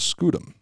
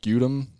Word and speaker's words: scutum: them scoot them again i've heard that pronounced scutum or scutum i'm just i'm just going to go with scudem because i'm just kind of sounds like slang for like butt something right see i i